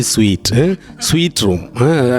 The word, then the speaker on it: suite: അവിടെ എന്താണ് എഴുതി വെച്ചിരിക്കുന്നത്, അവിടെ ഒരെണ്ണം എന്തോ ഒരെണ്ണം കണ്ടായിരുന്നു, creatives should be sweet, it should be sweet room, as if we pronounce it as SWEET, sweet എന്ന് പറയാറില്ലേ, മധുരം എന്ന് പറയുന്ന പ്രൊനൗൺസിയേഷൻ, ആ ഒരു സൗണ്ട് ആണ് വരുന്നത്.